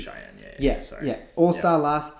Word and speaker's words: Cheyenne: have Ryan Howard and Shane Parker. What's her name? Shane Parker? No. Wait. Shane Parker. Maybe I'm pronouncing her first name incorrectly. Cheyenne Parker. Cheyenne Parker. It's definitely Cheyenne.